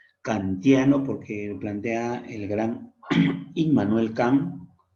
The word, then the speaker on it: Immanuel: Kantiano, porque plantea el gran Immanuel Kant, o se dice Emmanuel Kant, ¿no? Se escribe Immanuel Kant, pero le pronuncia Emmanuel Kant.